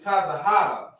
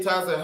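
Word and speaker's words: צהוב: got you so the word for yellow is tazah this is how you say tazah I mean this is how you say yellow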